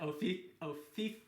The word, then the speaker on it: Ophiuchus: All right, so he's saying, is that Ophiuchus is, I believe, how it's pronounced?